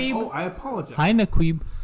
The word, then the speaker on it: Naquib: Hi, Naquib. It's pronounced Nakib.